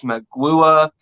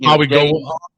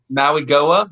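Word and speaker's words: Mauigoa: I mean, you got Francis Magua. I probably butchered that last name. Francis Maui-Goa. Maui-Goa, okay.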